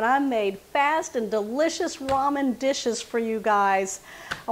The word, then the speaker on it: ramen: I grew up saying that word Raymond and not Ramen but after a couple of videos that I've showed y'all how to make ramen noodles I learned the word because y'all let me know how to say it right okay we are going